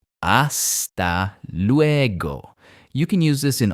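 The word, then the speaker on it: hasta luego: Another really useful one is aa leego.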